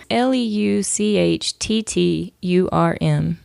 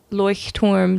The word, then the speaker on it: Leuchtturm: I'm pretty sure that's the pronunciation. Basically, it's Leuchtturm, Leuchtturm.